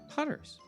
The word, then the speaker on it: Putters: It's what Putters. pronounced.